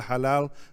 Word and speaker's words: Xalal: and even the term El Halal is spelled X A L A L and that's taking from the Nahwa the indigenous Mexican language where the it has the same sound as the ha in Arabic everyone name is